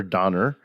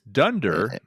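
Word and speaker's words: Donder: Vixen Comet Cupid dander is it D or Donner and Blitzen yep it is Dunder um Dunder or D either one it's pronounced and that actually is uh New York Dutch colloquial for Thunder I think in the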